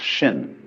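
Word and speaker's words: 心: Chinese mind is um this word pronounced shin and shin is here Shin is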